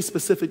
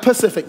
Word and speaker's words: specific: All right, not pacific. Specific. Be specific. Everybody say, be specific. Go sp, so I can hear, make sure you're saying it right. Yeah, I got some cousins. They be like, be pacific. No, that ain't how you say it.